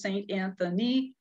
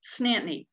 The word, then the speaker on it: Saint Anthony: town of saint anthony if you spell it out by syllables it's four syllables saint anthony saint anthony or in newfoundland two syllables snantany snapney for the night